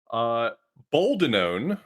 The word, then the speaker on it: Boldenone: Boldenone is how it's pronounced. Boldenone.